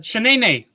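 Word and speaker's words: Sheneneh: wait is it from Martin yes okay uh Shenene yes that's it yes Shenene okay so those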